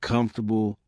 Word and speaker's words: comfortable: For example, the word comfortable isn't pronounced the way it's written, and contractions like gonna or wanna are used in everyday speech.